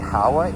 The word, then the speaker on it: Howa: I might have mispronounced the uh manufacturer of the kit. It's actually Howa H O W A, but more details as